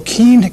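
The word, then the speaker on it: Kean: Well, Kane, excuse me is the way you pronounce it, has apparently good support among those blue-collar people.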